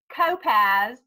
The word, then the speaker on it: Kopacz: how to pronounce it it is pronounced copass like topaz but there's a silent c in there isn't there um yeah